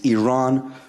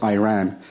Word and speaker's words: Iran: our country's name wrong our country is named Iran not Iran please once and for